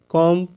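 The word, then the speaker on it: comb: बम सीओ एम बी कॉम डीओ एम बी डम तो दोस्तों इसमें जो बी है इसका उच्चारण मैं नहीं कर रहा हूं मैं क्या बोल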